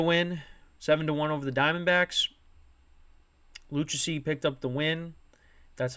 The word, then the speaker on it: Lucchesi: Lucchesi picked up the win. That's how you pronounce it.